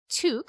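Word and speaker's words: toque: also could not pronounce the word tuk which is the way we say um the word t-o-q-u-e in this part of the world um which is the canadian way to say like knitted head covering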